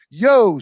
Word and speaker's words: io: was Saturday they say yo saturnalia that's what the io was pronouncing yo yo saturnalia and I